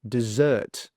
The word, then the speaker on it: dessert: So the stress is on the second sound, dessert, dessert.